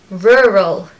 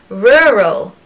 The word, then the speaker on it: rural: copy me and maybe you can improve your pronunciation number one is rural rural rural I even don't like saying this word myself